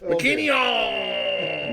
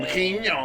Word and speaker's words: MacKinnon: Is that correct pronunciation of your last name? Close enough. MacKinnon. MacKinnon.